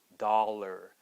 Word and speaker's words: dollar: Dollar, and we get the same ER sound, dollar.